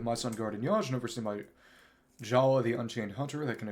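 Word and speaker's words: Jaller: Which was funny, but his name spelling was changed from J-A-L-A to J-A-L-L-E-R, but it still had the exact same pronunciation of Jala.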